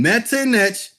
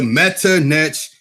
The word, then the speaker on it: Metternich: He's not saying Medunetta, the Metternich. He's trying to trick you. He wants to pronounce it like Metternich, like Prince Metternich.